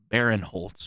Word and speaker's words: Barinholtz: The other enjoyable comic relief in this movie was Ike Barinholtz, which I may be pronouncing his last Ike name wrong. Barinholtz, yeah, that's right.